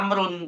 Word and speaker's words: عمرو: Tapi kalau sudah diletakkan huruf wau, hah berarti kita harus bacanya Amrun, bukan Umar lagi gitu ya.